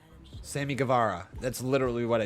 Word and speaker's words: Guevara: Jay Notice says it's pronounced Guevara. Sammy Guevara.